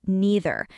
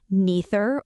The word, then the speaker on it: neither: or either neither or neither and the answer is both are completely correct both pronunciations are standard English neither form is wrong and neither form is more educated or more correct than the other there is a general